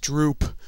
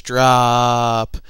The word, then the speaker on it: Drooop!!: the game called drop it looks like it should be pronounced droop but it's drop and uh it's for